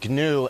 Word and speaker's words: GNU: new uh well greg first of all it's pronounced gnu and it's a computer operating system similar to